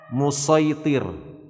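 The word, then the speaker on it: مصيطر: Musaitirun ini shadnya itu bisa dibaca sin. Ya, ada dua cara baca dari musaitir ini, bisa dengan musaitir dengan shad, bisa juga dengan sin.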